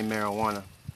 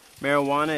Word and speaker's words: marijuana: one minute to say marijuana and put an age where the J should be marijuana is not meant to